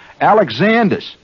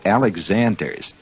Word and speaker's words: Alexander's: Make sure that you pronounce it Alexander's. That's very important. Don't say Alexander's. It's Alexander. You must try to show